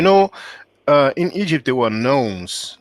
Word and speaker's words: nome: But you know, in Egypt there were gnomes. Now we call them gnomes. Well, it's spelled Nomes.